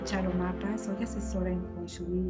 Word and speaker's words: Feng Shui: El Feng Shui viene del cantonés y significa viento y agua y se pronuncia Feng Shui. La pronunciación puede variar diferente por los diferentes dialectos, ¿no? En algunos lugares es Feng Shui, en otros lugares, como les comentaba, en cantonés es Feng Shui.